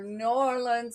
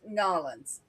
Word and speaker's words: New Orleans: Nolans. Them Nolans. people get downright vicious when you mispronounce their town. Yeah, I'm Yeah, ashamed New to admit I said, Orleans or New Orleans. It's Nolans.